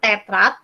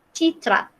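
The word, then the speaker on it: тетрадь: Nah ini jangan lupa bahasanya bukan tetrat, tapi citrat.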